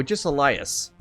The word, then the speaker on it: Agesilaus: But yeah, so Agesilaus is how you say my name.